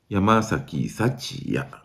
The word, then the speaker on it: 山崎福也: 西佑樹そしてえファイターズは山崎幸也と読みますこれはオリックスに